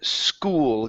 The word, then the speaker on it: school: Next one is the word school. Get that L to come out at the end.